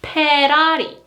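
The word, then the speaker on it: 페라리: Again, there is no F sound, so it is Ferrari.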